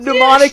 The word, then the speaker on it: mnemonic: No, but mnemonic is with a P. This is an M-N. No, it's with an M. No, It's the an M is silenced.